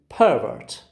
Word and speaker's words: pervert: pervert pervert pervert okay you can easily see that the first syllable receives it receives a stress how do i say i say pervert it's a noun it's a noun i told you when the stress is on the first syllable when the stress is on the first syllable it's a noun or an adjective but when it is on the second syllable it is a verb line two okay line